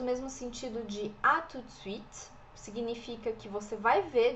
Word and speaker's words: à tout de suite: Aqui no à tout de suite a gente não fala o T.